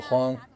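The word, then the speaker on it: 風: So in our local dialect, wind is pronounced as huang, and that's a beat.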